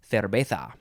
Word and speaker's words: cerveza: Sometimes in Spanish they use a b sound, a b sound instead of a v. Cerveza. Or you can, if you're real Spanish, you'd say cerveza. Cerveza, with a little bit of a lisp.